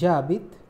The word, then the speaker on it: j'habite: So the first one is JABIT, JE becomes J apostrophe before a verb. If it is starting with A, E, I, O, U or silent H, because H is silent in French and it is considered